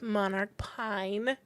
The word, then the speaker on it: Monarch Pine: So today's episode is sponsored by Katie with Monarch Pine.